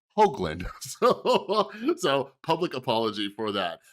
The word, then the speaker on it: Hoogland: past I realized his last name was pronounced Hoagland so public apology for